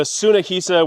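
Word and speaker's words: Tsunehisa: So, starter Niris, uh, the Sunnaisa, which is spelled T S U N E H I S A, has lots of great options, lots of great deals.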